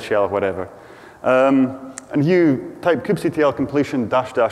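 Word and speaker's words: kubectl: bit of an argument and but I do pronounce it some people say Kim CTL is all cuddle and cube control I'm on stage and I have a microphone so it's cube CTL yeah and the first thing you want to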